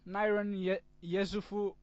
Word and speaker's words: Niran Yesufu: off this series in great style I have Niran Yesufu, or as he is known on YouTube, FlyingNirangatang.